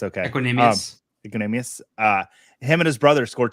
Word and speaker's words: Equanimeous: I did think it was cool about Equanimeous St. Brown. I didn't say his name right. It's okay. Equanimeous.